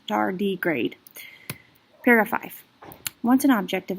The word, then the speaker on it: tardigrade: bears of the moss the word tardigrade is from the latin for slow Walker and pronounced dar degrade purifies once an object